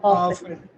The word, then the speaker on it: often: often ஆஃபன்.